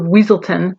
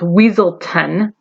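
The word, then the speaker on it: Weselton: he and bug heads like the duke of weaseltown pronounced weasel 10r are so busy disagreeing over how to rule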